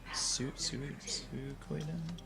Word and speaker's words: Suikoden: take to beat the Suikoden? Suikoden? That takes care of Suikoden. Suikoden. Is that how you pronounce it? Yep. Can't be. You mean Suicune? You gotta pronounce the I.